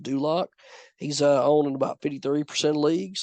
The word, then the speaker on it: Dulcich: out, and that's Greg Dulak, or Dulcich is what it looks like, but it's pronounced Dulak.